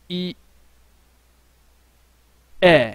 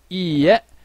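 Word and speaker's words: いいえ: E, E. Eh, it almost looks kind of like an E. I don't know if you're a weirdo. E-eh. This is how you say no in Japanese.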